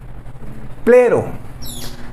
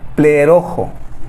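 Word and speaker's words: πληρόω: Yo siempre decía plero. La palabra llenar en el griego es plero, pero está mal pronunciada. Tengo 30 años pronunciando mal esta palabra, pero me metí a a a este a escuchar esta palabra y en realidad debe debe de pronunciarse pleerojo. Así se debe pronunciar, pleerojo.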